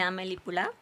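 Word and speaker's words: Amélie Poulain: llama el fabuloso destino de amel pula así se pronuncia así en francés y me gusta mucho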